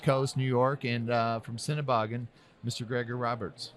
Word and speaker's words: Sennebogen: So well, it is Sennebogen.